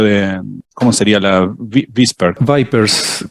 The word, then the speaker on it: VIPERS: Vipers, creo que se pronuncia Vipers, ¿no?